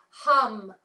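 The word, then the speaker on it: ham: The throat chakra, the seed syllable for the throat chakra is hum, hum, H-A-M, hum.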